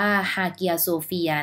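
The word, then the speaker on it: Hagia Sophia: คะ หรือ ว่า บาง คน ออก เสียง ว่า ฮา เกีย โซเฟีย นะ คะ เป็น 1 ใน 7 สิ่ง มหัศจรรย์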